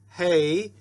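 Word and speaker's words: ה: So see, we call the letter a hay, we call it an H, but the sound for both of them is a like in hay, hay.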